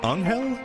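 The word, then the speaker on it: Anghel: Okay, based on the the Kana, his name is pronounced like an Aner. Anher. So, Angal. Anel. I've been calling him Angel this entire time.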